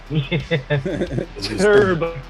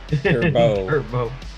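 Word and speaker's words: Turbeaux: My favorite part is that the character's name is spelled Turbeao, or pardon me, Eaux. Turbo. Turbo.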